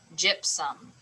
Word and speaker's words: gypsum: a breathe um some gypsum and the accent goes on the first syllable this time as well okay